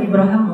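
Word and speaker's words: إبراهيم: sekarang dia Ngomong Ibrahim bahasa Arab itu Ibrahim boleh ibraham boleh itu dua cara baca Alquran kan ada qirat kan Ya jadi kayak bahasa Inggris Abraham itu bahasa Arab aslinya Ibrahim ibraham dua-duanya bacaan yang benar Nah ya Ibrahim kata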